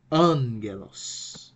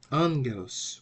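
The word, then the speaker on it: ἄγγελος: uh key okay so it is pronounced like an N so the right pronunciation for for the Greek word that means Andro is Angelos okay Angelos what about this word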